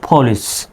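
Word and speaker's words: police: এর সঠিক উচ্চারণ হলো পলিশ তবে আমরা আবার বাংলায় এভাবে লিখি পুলিশ যদিও এই উচ্চারণটা ভুল সঠিক উচ্চারণ হলো পলিশ পুলিশ পি এর উচ্চারণ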